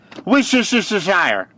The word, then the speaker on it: Worcestershire: It's just Worcestershire. Because no one can ever pronounce this, me included.